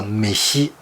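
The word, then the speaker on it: 飯: 比如说日文饭这个字，日文发音叫美西，两个音。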